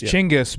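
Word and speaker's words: Chinggis: main generals of uh of tein yeah uh chingis apparently gangas European mispronunciation gangas it's Changas it's Changas CH it's chingis but uh so what happened was in France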